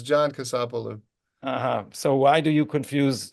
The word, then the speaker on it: Kasapoulou: You and your friend, last time I tried to pronounce his name, it sounded like he was Greek. So you and Con Kasapoulou. Kasapoulou, that's right.